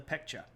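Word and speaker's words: Baekje: green one is the peka and I know that's spelled with a B but you say that with a p and the AE makes it sound like e and then the this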